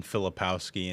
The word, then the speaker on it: Filipkowski: Filipkowski.